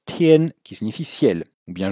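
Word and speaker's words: 天: Et en dessous, on a un caractère qui est un mot qui se prononce tien, qui signifie ciel ou bien journée.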